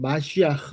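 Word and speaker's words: מָשִׁיחַ: 우리 가 메시아 라고 부르는 분 의 정확 한 히브리어 발음 은 ' 마시아흐 ' 입니다 .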